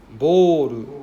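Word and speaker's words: ボール: So it's an A sound. Boru. Right? So it's a long O sound.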